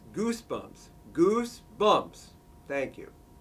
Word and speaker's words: Goosebumps: didn't approve this video it's pronounced Goosebumps Goosebumps thank you